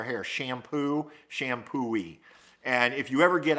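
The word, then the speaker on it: Champoeg: shampoo East a park but what was weird about is it's spelled like CH am champagne p OE g and thanks to Debbie Falls helped me organize that one night she told me she goes just think of washing your hair shampoo shampoo E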